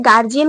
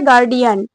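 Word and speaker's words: guardian: না আসল প্রোনাউন্সিয়েশনটা হচ্ছে গার্ডিয়ান আমরা কেউ এটা জানিই না কিন্তু আমরা সবাই ওটাকে গার্জিয়ান বলি গার্জেন হয় না আসল উচ্চারণ হচ্ছে গার্ডিয়ান গার্ডিয়ান মিটিং হয় গার্ডিয়ান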